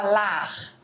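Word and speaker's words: l'art: Em francês a gente fala lar, termina com r, mas ele se escreve a rt. É verdade. A gente não pronuncia o t.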